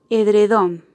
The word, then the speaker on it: edredón: Al igual que sofá y sábana, edredón también es una palabra con tilde, que su acento ortográfico está en su última sílaba y que por eso decimos que la sílaba tónica de esta palabra es don.